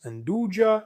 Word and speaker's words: nduja: It's pronounced Anduja, not Anduja, just so you know. You often hear people say Anduja.